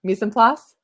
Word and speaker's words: mise en place: Yes, or mise en place? How do you say it? Well, I guess you can't tell me because you're typing, but the latter, mise en place.